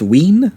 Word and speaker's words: Wiene: is kind of uh directed by uh robert devine or also uh robert wein i've uh heard a lot of the german